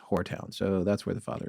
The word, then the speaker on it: Horetown: Well, we asked our guest tonight how to pronounce it, and he confirmed that it is Whoretown, so that's where the father is buried.